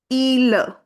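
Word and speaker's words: île: The original sound of i in French is e. So, we'll put stress on it. i-le.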